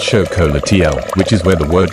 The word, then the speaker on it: xocolatl: This bitter, frothy drink was called xocolatl, pronounced show-co-la-tee-al, which is where the word chocolate comes from.